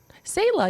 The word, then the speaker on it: Selah: Selah, you said it right.